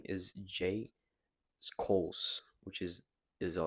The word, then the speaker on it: Schulz: His name is J Skos, which is is spelled J S C H U L Z.